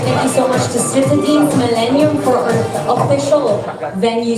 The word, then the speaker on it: Citadines: Citadines. Rhymes with sardines.